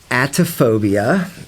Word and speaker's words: Atephobiia: I have a SoundCloud account that's under the name Atophobia, and that is spelled Atephobiia, and the address on that is